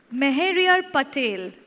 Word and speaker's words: Meheriar Patel: chairs on stage please our next speaker is Muriel Patil did I pronounce it right yes mr.